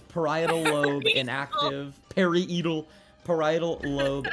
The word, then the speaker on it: parietal: I I'm hope I pronounced this right. Get it. Um, it says periodal lobe inactive.